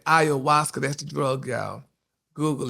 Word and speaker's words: ayahuasca: Oh, honey, that's how you say ayahuasca.